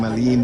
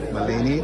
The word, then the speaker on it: Melanie: I'm saying it wrong. I'm saying Maline, but it's actually Melanie.